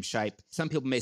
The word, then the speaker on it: Shipe: Like how you would say my name, Shipe.